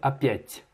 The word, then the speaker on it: опять: Alors que non, il y a un signe mou. Donc il faut dire опять.